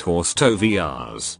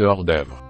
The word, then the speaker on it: hors d'oeuvre: So Jeffrey, here is your 1 bite horse tovias. It's pronounced 1 bit hors d'oeuvre.